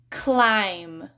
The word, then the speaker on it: climb: So in English, the letter B is not pronounced when it's followed by M at the end of a word. For example, climb. Notice how you don't really hear that B. If I pronounce the B, I'd say climb, but I say climb. Similarly, crumb, comb. Notice how that B is just really quiet if it's even there at all.